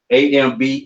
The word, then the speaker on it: Ambie: EMMA, Emma, AMBIE. Can you pronounce that for me?